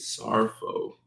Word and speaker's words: Saro: reason J X mama you pronounced my name Saro Saro that's how you say it Saro this I put a